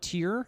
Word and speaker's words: TYR: This is actually from Tier. Yeah. It's a Tier swimming brief. Is that how you pronounce that?